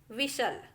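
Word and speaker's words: whistle: देखिए ये जो लिखा है वो कैसल, Christmas, लिसन, often, विशल, इस तरीके से आपको पढ़ना है। टी को बिल्कुल भी नहीं पढ़ना है, यहाँ पे टी साइलेंट होता है।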